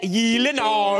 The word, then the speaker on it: Gyllenhaal: It is a Swedish name, so yeah. Shouldn't it be like Gyllenhaal? Oh my god. Gyllenhaal. The only two places that that is pronounced correctly, my last name like you did just now, is in Sweden and in IKEA.